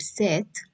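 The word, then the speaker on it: cette: starting with vogel because when we pronounce this word seth the word does not end with a vowel sound it is ending with the sound of the consonant which is t that is why when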